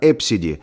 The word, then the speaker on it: Abcde: ABCDE произносится как Эпсиди, настоящее имя.